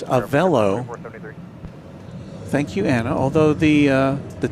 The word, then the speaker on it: Avelo: So Anna is correcting me, it's Avelo.